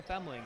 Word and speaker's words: Femling: I'm pronouncing it right, Femling? Yeah, yep. Okay. You're one of the L is on the right spot. Yes, yes. Everybody pronounces it Fleming, but not. You're spot on, though. You're getting the Femling.